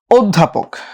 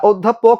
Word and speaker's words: অধ্যাপক: কারণ পরপর জফল আছে তো অত্যা যা ছিল আর চার অধ্যাপক এই অপর জফল আছে ওটা ও হবে আর ধটা যেহেতু মহাপ্রাণ